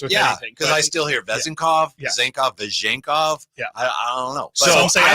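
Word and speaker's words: Vezenkov: to pronunce it and it's vezenov okay vezenov excuse me I'm sorry so it's V zenov like the K is not in the second syllable have you ever heard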